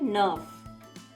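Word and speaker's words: neuf: moins these girl nine 9 is said nerve then 20 minus 12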